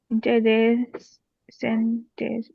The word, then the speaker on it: interessant: Meine Informatik-Professionärin finde ich am inter interessantes bei der Pronunciation.